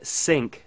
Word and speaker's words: Cinq: at an application called sync that lets you sync your photos from your mac to your iphone so sync which is spelled cinq is an application for